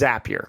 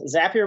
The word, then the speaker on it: Zapier: So you are the co-founder and the CEO of Zapier. Now, first off, to rest all of the pronunciation to rest here at this point, it is Zapier, correct? Yes, Zapier makes you happier.